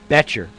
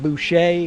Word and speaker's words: Betcher: Oh, it's Matthew Betcher. Not Bocher, not Boucher. Oh, you butchered that then.